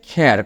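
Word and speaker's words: care: আবার কেয়ারও কিন্তু না, এটা হচ্ছে খেয়ার, খ দিয়ে উচ্চারণ হবে।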